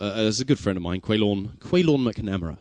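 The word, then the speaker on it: Caolán McNamara: There's a good friend of mine, Quaylorn McNamara is how it's pronounced, so you can get to know him.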